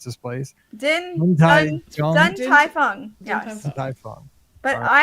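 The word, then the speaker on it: Din Tai Fung: I can't pronounce this place. Dun Tai Fung.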